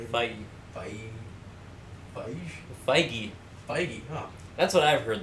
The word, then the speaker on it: Feige: Feige, huh?